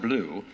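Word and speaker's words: BLUU: the offering today will be shared with blu pronounced blue, which stands for black lives of unitarian universalism.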